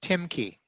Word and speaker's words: Timke: his last name is Rob says his last name is pronounced Timke.